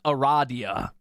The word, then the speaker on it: Aradia: Trial glimmering Gold and cold iron it is pronounced Aradia they had to tell you that so you